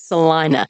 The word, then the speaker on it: Celina: Oh, it's Celina.